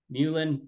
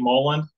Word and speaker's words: Mullen: Got my really good buddy Dave Mulan. Now, you said Dave, I was saying your name wrong. Correct me. We say Dave Mullen, but that, I Oh, mean, okay.